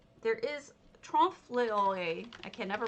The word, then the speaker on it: trompe-l'oeil: word for it because it's a, there is trompe-l'oeil. I can never pronounce it, so let's have it pronounced for us, shall we? Trompe-l'oeil.